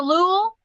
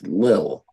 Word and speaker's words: Lille: Oh, Is it pronounced the Lul? The Lul? No, I think it's Lille.